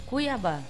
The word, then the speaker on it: Cuiabá: G alanus Metropolitano cuaba Cómo se pronuncia esaba cuiaba cuiaba cuiaba deportivo cuiaba voy haar ustedes hablan cuaba cuiabá muy bien deportivo garcilazo por el